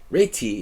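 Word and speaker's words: Réti: lot of ready uh I don't normally play the REI but reti if you want to be correct in our pronunciation to the to the Hungarian um Ry rard I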